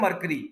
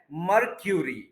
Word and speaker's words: mercury: ये वर्ड हम अक्सर बोलते हैं मरकरी, मरकरी, ये मरकरी नहीं है, ये है मर्क्यूरी, marquee Curie, मर्क्यूरी, मर्क्यूरी, मर्क्यूरी, ठीक है?